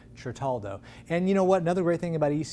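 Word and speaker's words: Certaldo: that is yes yes tritaldo italy i mispronounced it the first time i said it but bryce corrected me chartaldo and you know what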